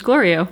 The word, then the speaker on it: Glorio: Is it Glorio or Gloria? Because, I mean... It's the guy's name. It was Glorio.